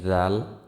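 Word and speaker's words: ذال: দাল আমার সাথে সাথে পড়বেন দাল তারপরে আসি জাল জাল উচ্চারিত হয় জিহ্বার আগা সামনের উপরের দুই দাঁতের আগার সঙ্গে লাগিয়ে উচ্চারিত হয় আবার বলি জাল উচ্চারিত হয় জিহ্বার আগা সামনের উপরের দুই দাঁতের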